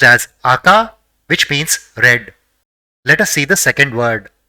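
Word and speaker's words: あか: So, it will be pronounced as aka, which means red.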